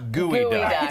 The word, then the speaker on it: geoduck: It's gooey duck.